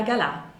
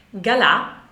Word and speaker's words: Gala: Chi era Galà? Galà o Gala, a seconda che si voglia pronunciare alla francese oppure no, io sono abituata a pronunciarlo Galà.